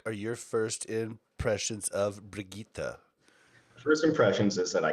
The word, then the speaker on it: Brigitte: If you just say the 3 syllables, it's Brigitte, and you use 3 different parts of your mouth to say all 3 of them.